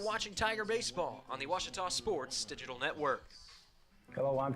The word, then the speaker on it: Ouachita: for Washita Baptist University back in Texas everybody pronounces it Wichita but really it's Ouachita Washington how would you pronounce it it's Ouachita Baptist University get it right it's Ouachita people it's